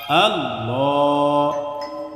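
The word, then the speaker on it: الله: আরেকটি পেশ যোগ করলাম, তাহলে এই আল্লাহ শব্দের লামের পূর্বে যখন জবর অথবা পেশ আসবে তখন এই আল্লাহ শব্দের লামকে পুর করে অর্থাৎ মোটা করে পড়তে হবে।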